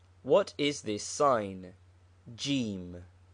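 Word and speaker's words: جيم: Jim. It is the letter Jim, which is the English J, but pronounced hard G in Egypt.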